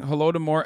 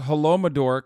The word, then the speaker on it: Holodomor: Plus, he's still pronouncing Holodomor as Holomador.